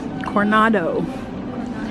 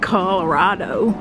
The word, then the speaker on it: Coronado: Coronado. I do not know how to say it. Not Colorado.